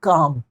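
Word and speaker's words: calm: आप बोलेंगे आई एम काम क्या बोलेंगे आई एम काम इसमें जो एल है इसमें जो एल है जो इसमें एल है वह क्या है साइलेंट है तो एंड आई एम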